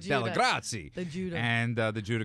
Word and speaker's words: Dellegrazie: And that's because I'm from Brooklyn, yo. And I can say it right. Dellegrazie.